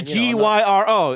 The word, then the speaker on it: gyro: It's a G-Y-R-O.